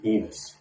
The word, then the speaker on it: Enos: lot of new babies being named Enos these days rhymes with penis it's a tough one